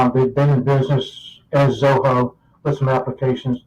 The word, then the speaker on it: Zoho: And first of all, I couldn't pronounce it because it sounded like Soho, but it's really Zoho.